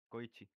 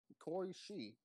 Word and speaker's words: Koishi: Koichi. Oh, it's Koishi.